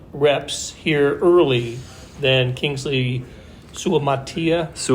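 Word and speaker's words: Suamataia: here early than Kingsley Sua-Mata'afa. Sua-Mata'afa. Sua-Mata'afa, thank you. I will never not need to be corrected on that name. it's just like it's spelled, yeah.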